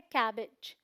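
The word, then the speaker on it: cabbage: लगेगा कैबेज बोलते हैं बट प्रोनंसिएशन क्या है कैबेज कैबेज ई साउंड आएगा फिर है हमारे पास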